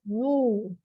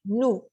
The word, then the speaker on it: nous: Combinación de vocales o U, suena como una U, como nuestra U, no como la U francesa que es una I,